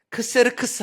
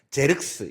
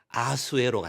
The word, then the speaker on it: 크세르크스: 크세르크스 또는 제르스 이렇게 읽기도 합니다. 그런데 왜 우리는 아우스에로 읽을까요? 아우스레로 읽은 이유가 있습니다. 그 이유는 그세르크스라는 그 사람의 그 글씨를 히브리어 발음으로 음차하면 아수에로가 된대요. 그러니까 히브리 사람들은 그렇게 아수에로 읽었나 봅니다. 근데 지금 우리는 우리가 히브리어를 쓰는 사람들이 아니잖아요. 그러니세르크스로 쓰는 것이 저는 옳다고 봅니다.